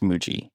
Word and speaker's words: Muji: I think it's Muji. I think it's pronounced Muji.